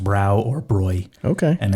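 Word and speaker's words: Bräu: little oop salon on top for those yeah broy okay i think i always said brow that's what i use yeah that's what i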